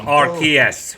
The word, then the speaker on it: Arceus: So, It's pronounced Arceus. I thought that the Pokémon Company took over the international dubbing of the anime in the mid-2000s over the fear that people would pronounce Arceus the very wrong way in which Pikachu just did.